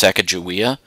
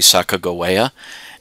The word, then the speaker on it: Sacagawea: old shoshone indian woman by the name of sakagawa and you often hear her name pronounced sakajuwia um that's actually really bad pronunciation uh her name was actually sacagawea and she served as the guide and interpreter